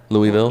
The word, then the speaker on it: Louisville: say it Cookville or Louisville or Oh, I say Louisville. Louisville. Yeah. Louisville. You're supposed to say it. I think Lindy told me one time you're supposed to say it like you have marbles in your mouth.